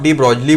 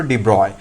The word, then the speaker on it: de Broglie: ध्यान में रखिए, क्योंकि ये कोई ब्रूस ली का भाई नहीं था जिसको आप डी ब्रॉगली बोलो या फिर डी ब्रॉगली बोलो। आप बेटर है इसी प्रोनाउंसिएशन को यूज करो, डी ब्रॉय।